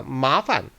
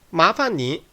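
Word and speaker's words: 麻烦: 주의하실 점은 뒤에 판이 경성화된다는 겁니다. 麻烦 주의하시고요.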